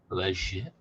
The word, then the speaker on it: legit: Legit. The soft G.